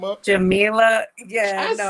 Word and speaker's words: Jamila: Um, and we are happy to bring Jamela. Did I tear the whole name up? Jamila.